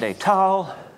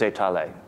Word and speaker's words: étaler: There are two French words, étaler and étal, and Grothendieck has absorbed the English speaker's habit of pronouncing them alike. He just says étal for both.